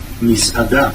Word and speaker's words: מסעדה: Misada.